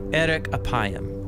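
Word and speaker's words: ארך אפים: in Hebrew the phrase slow to anger is pronounced Eric aayam or literally long of nose but what does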